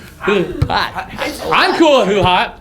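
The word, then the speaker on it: HuHot: Who hut? Who hot? Who Hut. Who hot? I said Who Hut. Yeah, you said it wrong. Who hot?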